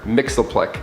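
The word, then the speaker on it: Mxyzptlk: when the joker steals the powers of mr mixel plick which is spelt so differently i had to like rate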